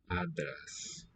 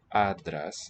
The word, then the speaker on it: άντρας: Here's another case of the nasal and the voiceless stop, giving a the here, voiceless stop. Άντρας. Adras. And where's the syllable boundary there? Is it, okay, talking about Greek now. Adras is the sound.